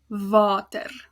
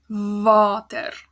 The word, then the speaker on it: water: But in Afrikaans, water. So you hear like the R at the end, which is really important for most words in Afrikaans. And like the W sound, water.